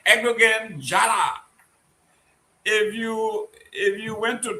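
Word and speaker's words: Erdoğan: yeah, Erdogan, the G is silent, whatever.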